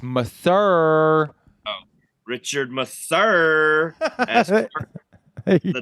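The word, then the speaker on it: Masur: correctly dick face Richard Mouser no it's not Mouser it's meur oh Richard Mur as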